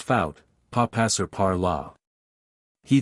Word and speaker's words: faut: Il faut, pronounced faut, pas passer par là.